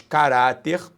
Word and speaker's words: caráter: Presentes no texto os vocábulos caráter, preste atenção. Sílaba tônica, repare, é oxítona, paroxítona. Paroxítona terminada em R.